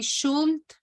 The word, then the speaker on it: should: So, well, as you already corrected, the L is not pronounced. We don't say should.